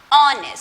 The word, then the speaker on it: honest: H is silent. It's not giving its consonant sound, that is her. It's not giving the her sound. It's honest.